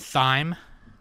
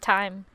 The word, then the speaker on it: thyme: and some thyme and Syme well it's pronounced time it's Browns time there's